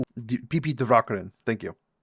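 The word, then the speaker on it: Divakaran: So, uh a wonderful physicist and mathematician professor PP Dvakaran who PP Dvakaran.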